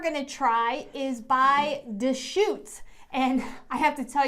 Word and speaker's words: Deschutes: it d-e-s-c-h-u-t-e-s i wasn't quite sure how to pronounce that so it's deschutes there was some practicing and there was some